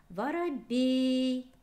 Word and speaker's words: воробей: Воробей. Ударение падает на е.